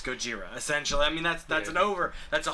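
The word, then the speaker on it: ゴジラ: So in English it's Godzilla, in Japanese it's Gojira.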